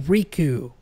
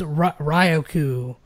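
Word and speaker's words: Riku: or you know like it's supposed to be supposed to be reku but it's Roku or something like that or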